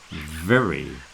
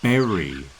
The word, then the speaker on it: very: of boat and very very now a lot of people especially here in bilb when they're trying to do the V they often pronounce it as a b it's not a b so the word very